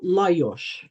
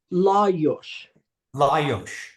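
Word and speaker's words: Lajos: say that again please J is pronounced like Y in Hungarian and S is pronounced like sh so layos Leos is that right Laos Laos yes and your uncle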